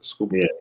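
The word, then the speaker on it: Skubal: Scubble.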